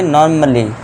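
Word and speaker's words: normally: अब ए के बाद डबल एल वाई आ रहा है। जी हां। तो इसे हम क्या पढ़ेंगे? नॉर्मली। नॉर्मली ए का साउंड नहीं देना है।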